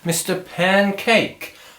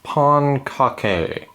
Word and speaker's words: Pancake: joined here today with a very special guest Mr Pancake um am I pronouncing that right uh actually it's pronounced Pon Kake sorry I never got the hang of spatulas